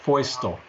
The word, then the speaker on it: Feustel: in Russian it would be easy but it's pronounced voice tone voice oh great yep before we get started